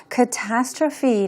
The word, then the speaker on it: catastrophe: 나온 표현이 재난이라는 의미인데요 catastrophe 아는 단어입니다 굉장히 복잡하게 생겼죠 스펠링도 어 그렇고 단어 길이가 깁니다 마지막 부분에 PH 2로 끝나고 있는데 이때 PH F 발음해 주는 것 잊지 마시고요 재난이라고 하면은 우리 disas